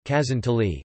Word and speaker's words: Casoncelli: Casoncelli, Italian pronunciation, Casoncelli, Casoncelli in the local dialect, are kinda stuffed pasta, typical of the culinary tradition of Lombardy.